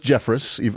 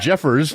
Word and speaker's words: Jeffress: the form of pastor Robert Jeffress and his pronounced Jeffress a sheep I got it wrong it's Jeffers not Jeffress this guy yeah it's spelt